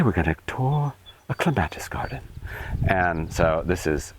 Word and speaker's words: clematis: This is clematis, or as the British say, clematis.